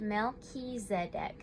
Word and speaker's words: Melchizedek: uncovered don't give up melchizedek pronounced mel ki zedek oh okay whose name